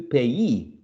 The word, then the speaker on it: payee: here the last line pay turns to payee employee employee journal journalist